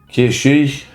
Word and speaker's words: Cait Sith: I'm not interested in how people think it should be pronounced correctly. Kishi Kishi. It just sounds like I'm saying Casey. Weird. So, we're going to go for Cats Sith, who is a cat